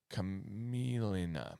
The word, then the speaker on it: camelina: Cameline? Camellia and Camelina. Camelina. Because you got to pronounce it the same way. It's the same beginning.